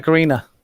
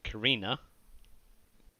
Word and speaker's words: Karenina: How do you pronounce this, little Les? Anna Karenina. Karina? Alright. You're missing half the word, but okay.